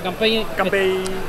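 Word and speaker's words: 乾杯: dice salud aquí en salud se dice Camp o sea campey es como decir al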